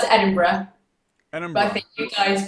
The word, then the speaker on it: Edinburgh: We pronounce it Edinburgh. But I think you guys pronounce it Edinburgh.